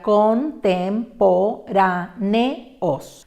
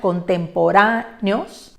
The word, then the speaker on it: contemporáneos: Observen al final que hay un encuentro de vocal fuerte y fuerte que no hace diptongo. Su separación correcta sería contemporáneos. De ninguna manera contemporáneos, de 5 sílabas, que sería el resultado de una falsa o de una incorrecta pronunciación.